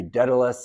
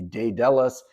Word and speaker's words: Daedalus: By the way, there's many ways that you might pronounce Daedalus. It could be Daedalus, it could be Daedalus. I'm just going to say Daedalus.